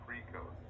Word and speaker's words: Precose: the nclex alpha glucosidase inhibitors ending in oats like a carbos and precose guys they rhyme with gross since they cause massive